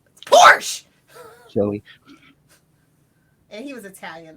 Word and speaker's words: Porsche: Hey, oh, Porsche. My fault. It's Porsche. It's Porsche.